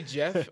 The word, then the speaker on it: Geoff: yeah it's something whatever spell your name does it say Jeff or did it say g off it's spelled g f f on my PL so you should probably I if I were you I would change it to Jeff even though it's not